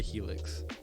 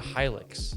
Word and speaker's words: Hilux: The Toyota Helix. Hilux? Helix? It's a Hilux.